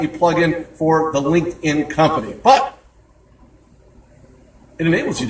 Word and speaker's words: LinkedIn: I even had a radio host mispronounce it and say, it's liked in. And I chuckled. I said, no, there's no such thing as liked in. It's linked in.